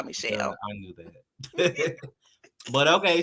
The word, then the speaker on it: Michelle: Not Chanel. Pronounce it for me. Shell.